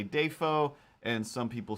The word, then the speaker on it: Dafoe: dafoe i believe is how he said it william day foe and then they cut back and they were like day fo for all these years for 40 years you've been saying dafoe it's like are you wrong or is your